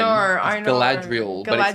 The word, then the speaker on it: Galadriel: I don't think it's meant to be pronounced Galandriel with an N. I know. Galadriel.